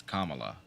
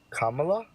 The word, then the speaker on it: Kamala: did I say Kamala it's Kamala Kamala Kamala like Pamela Vanessa join I mean